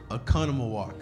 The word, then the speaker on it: Oconomowoc: can't suck on amok ok what is it Oconomowoc alright well ok we're gonna give wrong we're